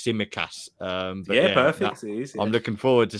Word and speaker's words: Tsimikas: I'm not going to try to pronounce his name. I think it's Tsimikas.